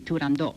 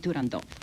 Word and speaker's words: Turandot: In addition to Turandot, which is pronounced the way I pronounce it, and also it was pronounced by Puccini and Toscanini, so it's really Turandot, not Turandot.